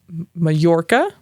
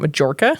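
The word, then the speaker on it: Mallorca: this island wrong it's mayorca mayorca there we go not Majorca I was making to pronounce it with a J like it's spelled not like a Double L that I wasn't ready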